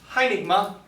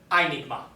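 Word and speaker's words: αἴνιγμα: And so, we pronounce this word not hynigma, but rather einigma.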